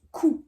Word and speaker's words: Q: P pas de surprise le Q se prononce cou attention qou RS t